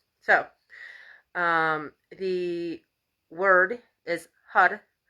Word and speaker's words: Har: um the word is hud it's spelled h-a-r but it's pronounced with a hard d or a hard r excuse me so it sounds like a d uh and the translation